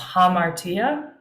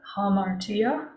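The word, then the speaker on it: ἁμαρτία: closed or open I guess quotation mark it's pronounced hamartia hamartia but sin is not a feminine trait sinner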